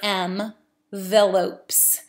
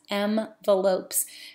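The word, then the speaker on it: Mvelopes: can pronounce it right M like the letter M Veloz so not envelopes but m and then ve L ope s m the lopes it has a lot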